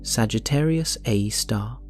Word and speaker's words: Sagittarius A*: Sagittarius a asterisk, pronounced Sagittarius a star.